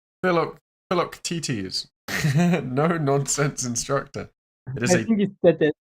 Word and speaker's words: Philoctetes: The T is silent. Oh, it's Philoctetes.